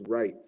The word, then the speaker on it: Reyets: so first of all it's writes it's r e y e t s and they pronounce that writes i don't know who